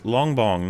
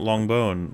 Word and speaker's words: Longbong: Also, it's Longbong, not Longbone.